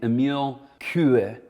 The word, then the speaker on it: Émile Coué: There was a French psychologist named Émile Coué is the French pronunciation, and this was later popularized by an English philosopher named Alan Watts.